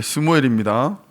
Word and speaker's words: 스무엘: 아비자들 예 스무엘입니다. 제가 지금 딴데 적어놔 가지고 스무엘이라는 이름은 우리가 잘 알고 있는 이름의 다른 발음입니다. 사무엘이라고도 우리가 발음을 할 수 있고요.